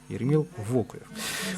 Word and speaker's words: Вокуев: Не совсем у нас все согласны с ударением Вокуев, Еремил, но поверьте, люди, уважаемые болельщики, что работникам из Республики Коми немножечко виднее, как ставить ударение в фамилии Вокуев, да. И диктор по стадиону это нам подтверждает, и тренерский штаб Республики Коми. Так что запомните раз и навсегда Еремила Вокуева, ударение на букву О.